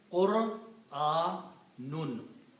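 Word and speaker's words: قُرْآن: It is Qur, Qaf and Ra have to combine with the Dhamma and Sukoon. Qur. And these two is A and Noon.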